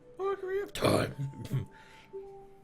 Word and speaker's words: Ocarina of Time: Ocarina of Time.